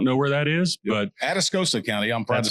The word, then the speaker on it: Atascosa: Most people don't know where that is, but Atascosa County. I'm proud to say correct. I can pronounce it now correctly.